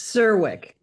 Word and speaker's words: Czerwiec: I saw two pronunciations for that. Do we need to correct that? It's Sirwick. It's easier than it looks. Sirwick.